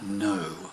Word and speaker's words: Noe: very nice song from a gentleman called Ian no I had Lester our pronunciation is surname spelt noe and a song